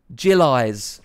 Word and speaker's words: Jilly: Bailey Jilly says, and by the way, it's pronounced Jillies.